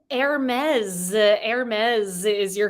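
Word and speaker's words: Hermès: the name of a Greek god but it's pronounced heres heres is your correct answer for number two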